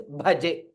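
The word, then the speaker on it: भजे: So it is bha. It is not ba. It is not baje. It is bhaje.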